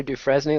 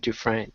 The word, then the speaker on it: Dufresne: And guys, nobody's congratulating me for not calling her Dufresne like I did on the Care Don't Care preview. I went out and learned how to say it, Dufresne.